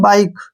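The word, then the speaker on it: bike: ई ठीक है ना इसको हम बी के नहीं पढ़ेंगे ई इसमें साइलेंट रहेगा ई को हम छोड़ देंगे इसको पढ़ेंगे हम बाइक क्या पढ़ेंगे बाइक अब जैसे नेक्स्ट है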